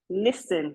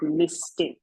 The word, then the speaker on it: listen: As regards proper and improper use of grammar, it's listen and not listing. The S is silent there.